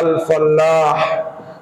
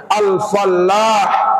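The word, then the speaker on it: الفلّاح: bahasa Arabnya petani adalah al-fallah Persis Sama tulisannya yang membedakan hanya tasdid kalau tidak bertasdid bacanya Alfalah artinya keberuntungan kalau bacanya bertasdid kalau bertasdid bacanya al-falah artinya petani al-falah keberuntungan al-fallah petani karenanya Ustaz Nanang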